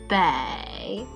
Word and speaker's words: 北: 北, 北, Bay, north, 东, 东, 东, east.